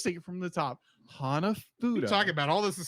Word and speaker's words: Hanafuda: I said it wrong, didn't I? You said Hanafudu. Hanafudu. Hana. Say it with me. Hana. Ha. Ha. Na. Fu. Fu. Foo Fighters. Say what you will. I have never had to fight any Fu. They've kept us in good shape. They're obviously doing their job. Oh my gosh. No, it's Hanafuda.